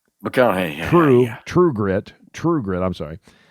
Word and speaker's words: McConaughey: McConaughey? McConaughey.